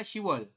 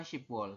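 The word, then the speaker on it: 시월: Harusnya kan shipwol, tapi di sini dibacanya shiwol, bukan shipwol seperti itu.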